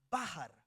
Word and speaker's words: bachar: va a bachar, así bachar se pronuncia bajar con acento en la a. Bájar, no como bajan en el rapidito, sino bajar con r. Usted decía bajan en el rapidito, pero no, no. Aquí es bájar.